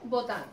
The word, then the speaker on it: Botin: Entonces Botin era un apellido francés que se escribe con I. ¿Y Botín? ¿Qué pasa? Que la gente entendió que Botín, y se quedó restaurante de Botín.